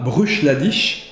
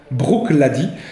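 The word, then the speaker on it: Bruichladdich: distillerie clady puisque feu ne se prononcent pas bruch l'a dit mais brooke l'a dit puisque pour charlotte fait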